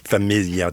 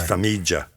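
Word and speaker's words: Farmiga: I was looking it up and I wanted to make sure because I was saying familia too. It's it's Famijia.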